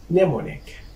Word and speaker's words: mnemonic: Mnemonic, mnemonic, mnemonic. فهنا الام silent لا تنطق في اول الكلمة اذا جاءت قبل حرف N.